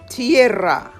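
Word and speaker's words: tierra: Example tiarra. Two syllables not three.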